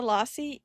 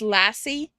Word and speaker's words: lassi: Yeah, lassi uh is love. Oh my god, I remember the first week I was in India, I I kept on pronouncing it as lassie, like the dog.